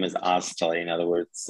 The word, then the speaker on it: Oztalay: My last name is Oztalay. In other words, it's spelled.